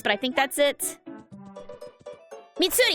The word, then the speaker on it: Mitsuri: Mitsuru, I think is her name. Mitsuri? Something like that. I don't quite remember what the name is, but I think that's it. Mitsuri, yes, I did say it correctly.